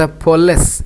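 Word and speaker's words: police: चलो next question है, द पुलिस। एक तो इसका प्रोनाउंसिएशन याद रखो कि पुलिस, पुलिस पू नहीं है, पौ भी पूरा नहीं है ना।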